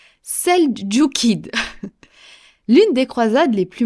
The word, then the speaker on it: seldjoukide: musulmans, qui étaient alors sous l'empire, attention la prononciation, seldjoukide.